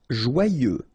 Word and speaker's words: joyeux: Joyeux. Final X not pronounced, and then joyeux.